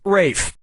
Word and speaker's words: Ralph: Ra Fine's first name is spelled like Ralph but pronounced Rafe.